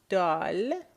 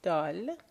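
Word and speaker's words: دال: So, dal, that's how you will pronounce the letter in Farsi, dal.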